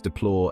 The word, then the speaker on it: deplore: of life and suffering we pronounce deplore as deplore with the stress on the second syllable here's how you can